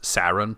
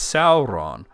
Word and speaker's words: Sauron: things wrong like my friend Sid km says sarin all the time instead of Sauron and I said it's Sauron to him once privately not like on a